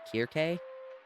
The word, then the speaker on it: Circe: I don't know if we're looking at, like, Greek pronunciations where, you know, the famous name, like, Circe from mythology is actually, if you look at the Greek letters, is actually Kirke.